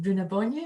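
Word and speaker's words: Brú na Bóinne: son, and Newgrange being, and I'll try and pronounce it, Bruna Bonye, is that right?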